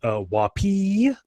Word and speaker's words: WOPI: Brian Lawland said thinks it should be pronounced Wapee, I guess with the emphasis on the end. And Lori Gowan says she tries to pronounce it to rhyme with hoppy, which I guess the same way, though I would have said floppy or sloppy or some other funnier word.